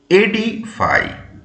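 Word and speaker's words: edify: দেখো number seven E ডি আই এফ ওয়াই এডি ফাইভ কি উচ্চারণ এডি ফাইভ এটা হলো একটা ভার্ব এবং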